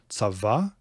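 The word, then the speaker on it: צוה: Tzava is not hollow. Very common verb, and you always pronounce that vav, and it's always consonantal.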